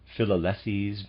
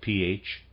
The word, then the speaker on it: Philalethes: Readers aside, Philalethes, possibly, I'm going to pronounce it that way, it's spelled Philalethes. Philalethes.